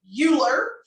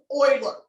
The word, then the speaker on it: Euler: in my east texan wants to name him euler but it is not this is oiler okay so it's pronounced spoiler but they did reference it with